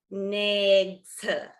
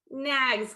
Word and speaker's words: NAICS: Everyone pronounce it as NAICS. Okay, I happen to say NAGS codes, which I understand is possibly wrong. And Amanda has gotten on me about that. So I need everyone to forgive me. I'm going to be breaking a decade-long habit of pronouncing it as NAGS.